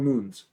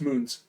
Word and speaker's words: mun: Yeah, they're called moons. That's how it's pronounced. Oh, it's M-U-N. Oh, cool. Yeah, it's moons.